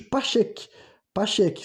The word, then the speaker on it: Pacheque: era chamada pelos indianos e pelos persas de Pacheque, sabe?